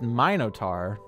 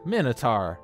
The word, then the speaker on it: Minotaur: I'm missing chat sorry it's pronounced my note are no Minotaur I've always pronounced it Minotaur you're not telling me it's my note are its Vitus are I